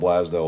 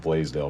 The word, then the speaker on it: Blasdell: scene is going to represent Blaisdell, I think is how it's pronounced. It's either it looks like it's spelled Blasdell. It's Blasdell, but I think it's pronounced Blaisdell if I'm correct.